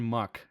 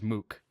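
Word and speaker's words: Muk: me if I'm wrong they pronounce the the Pokemon muck I'm pretty sure they pronounced him as Mook better or worse than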